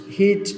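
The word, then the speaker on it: hedge: From হিচ টু হিচ, হিচ এখানে ডিটা silent থাকবে।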